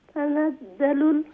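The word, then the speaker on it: تنزل: আলফিরাল জিমর উচ্চারণ হইয়ার আপনে যে তানাজ তানাজ্জালুল কইরা ইলা হইতো না ইন ওইটা এইটা আপনার জিমর উচ্চারণ হয়ে যায় তানাজ্জালুল যার উচ্চারণ হইবো তানাজ্জালুল এখন যা ওগো মাঝে হাত লাগে ওগো জিহ্বার আগা সামনে দাঁতের উপরে মাড়ির সাথে লাগাইয়া নানি তানাজ্জালুল তানাজ্জাল এটা জাল নাই জালও নাই জিমও নাই এটা হইলো যা যা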